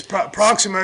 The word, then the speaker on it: Proximo: Is it Proximo? It's Proximo.